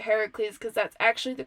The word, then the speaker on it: Heracles: might know it as Hercules but because this is Greek I'm gonna pronounce it Heracles because that's actually the